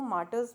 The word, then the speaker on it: martyrs: तो यहाँ पर अगर आर आता है बेटा, अगेन यहाँ पर साइलेंट है द मार्टर्स, तो हम इसको मार्टर्स बोलेंगे। आर साइलेंट रहता है।